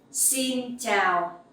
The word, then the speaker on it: xin chào: The X sound you will pronounce like S in English. Like the S sound in English. Okay, it's like in speaks. So xin, and the sound ch in chào, you can pronounce like in champion.